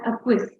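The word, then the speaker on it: acquiesce: the temple a quiz so this is pronounced as a quiz to accept with little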